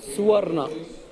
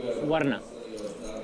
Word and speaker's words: Suvarna: Suvarna. One more time? Suvarna. Suvarna.